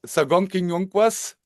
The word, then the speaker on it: Sakokwenionkwas: And I try it, Tom. And if I say it wrong, you say shitak. Um, so I say Sakokwenionkwas, Sakokwenionkwas. Sakokwenionkwas, Sakokwenionkwas. Sakokwenionkwas. Uh-huh.